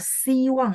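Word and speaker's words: 希望: Tapi kalau siwang yang di bawah XI, bacanya I ya.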